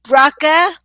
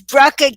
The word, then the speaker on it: Bracha: Bracha, as if it was a K. Okay. And as if there was no O. How is that for confusing? Very confusing. Okay. So it's Bracha.